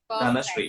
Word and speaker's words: धनश्री: धनश्री, Perfect, perfect, है ना.